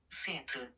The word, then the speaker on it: sept: tell us that it's sete, seta in the Portuguese. There's something curious about the French word for 7, set, which is that they spell it with a P.